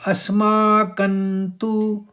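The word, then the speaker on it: अस्माकं तु: बोला जाना है इसको और कण का जो अनुस्वार है जो कण का बिंदा है वो न बोला गया वो आप समझ गए होंगे किस लिए बोला गया कि त थ द ध न में खत्म हुआ था त वाले व्यंजन तो न इस्तेमाल करना है तो अस्माकंतु विशिष्टाय यहां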